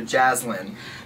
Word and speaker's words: Jaslyn: But she says, I pronounce like Jasmine, but with a lin at the end, so Jaslyn.